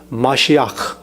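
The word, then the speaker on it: מָשִׁיחַ: 원어 발음을 가르게 드릴게요 히브리어로는 마시아 한번 따라해 보시겠어요 마 마시아 마시 예 그다음에 아라모 예수님 당시에 예수님이 제자들이 썼던 말 그게 아 아람어는 메시아네 그렇게 돼 있습니다 그다음에 헬라어로는 크리스토스 크리스토스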